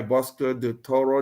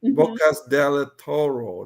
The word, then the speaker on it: Bocas del Toro: Like, if you're thinking of buying in Panama City, there's Boquete, all right, Bosco de Toro. Did I pronounce it right? Ocas del Toro. Bocas del Toro.